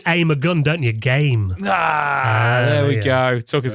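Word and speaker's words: Gaime: the the gamey the game I think it's I I just thought it' be pronounced game it's basically g a i m e I think it might just be game but yeah yeah we'll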